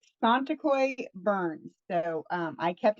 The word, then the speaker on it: Tsonetokoy: where you are located roughly okay so it's santa coy burns so um i kept my maiden name